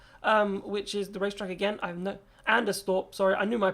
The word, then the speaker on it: Anderstorp: I think it's Anstrup, which is the racetrack again. Anderstorp, sorry. I knew my pronunciation was not going to be correct on that.